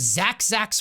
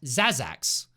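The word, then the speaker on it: Zaz'Zak: zazac oh my God I I always thought this was Zach Zack's realm Spike why have you guys let me why have you let me mispronounce this item for like four months straight Zach zazac okay Lux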